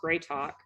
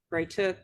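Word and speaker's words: Grytok: before I got married my last name was gr talk and it spelled like g r y t o k and people would just bray to bray to um or they would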